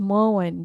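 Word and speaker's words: Maughan: It's menowen. Dibacanya menowen.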